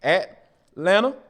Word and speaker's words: Atlanta: and then you know depending on what side of town you're on you can pronounce the first t at lana or you can say elena a-l-a-n-n-a yeah i i'm cool